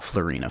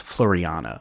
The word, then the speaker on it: Floriana: It's not Florina, folks. It's Floriana.